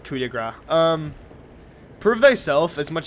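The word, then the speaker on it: Coup de Grâce: French it's spelled c De Grace but it's pronounced cigra um prove thyself as much as I hate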